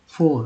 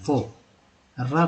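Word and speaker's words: for: देखिए अगर शुद्ध पढ़ना है तो फो पढ़िए, फो, र को दम हटा दीजिए, पढ़ना ही नहीं फो। लेकिन लोग ऐसा नहीं करते हैं, फोर ही पढ़ते हैं, तो करेक्टली फो होगा। क्योंकि अगर बीच में आर रहता है तो हल्का सा घसीट कर बोलेंगे र को, यानी आर को। अगर लास्ट में है तो दम गायब कर दीजिए, फोर।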